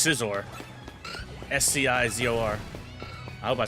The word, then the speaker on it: Scizor: Pronounce it X and then scissor. Yeah, it's just scissor.